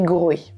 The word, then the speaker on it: Groix: la forme groée insula qui correspond à la prononciation en breton du continent qui est Grohe le nom viendrait du